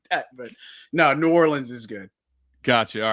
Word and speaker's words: New Orleans: New Orleans, New Orleans, Nolans. How do you pronounce it? We say New Orleans here.